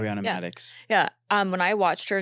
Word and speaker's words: Ariana Madix: Did I just pronounce her name right? Ariana Madix.